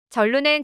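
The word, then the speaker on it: 真露: 소주 레시피가 큰 화제인데요 전로는 진로의 중국 발음으로 해당 레시피는 한국 소주와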